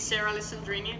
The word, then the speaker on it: Sara Alessandrini: and your name please so my name is Sarah sandrini this is kind of like the American pronunciation of my name anyway so uh I'm